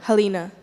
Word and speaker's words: Halina: and I wanted to your name is what Halina how do you spell it h what h li and yeah so